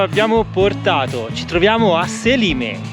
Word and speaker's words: Selime: Siamo arrivati al paese di Selime, o Selimé, come abbiamo sentito pronunciarlo qui dai Sì, locali. I locali Selimé. Selimé dicono.